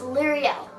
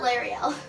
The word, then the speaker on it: Liriel: I've been called Ariel, Lorelai, Muriel, Lariel, Loriel, and a lot of different versions of Liriel, so it's Liriel, not Lariel.